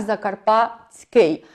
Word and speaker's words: закарпатський: І знову ж таки, коли ми пишемо на письмі «закарпатиський», то вимовляємо його як «закарпатський».